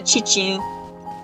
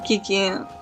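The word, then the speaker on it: Qiqi: A Chichi. I'm always saying Kiki.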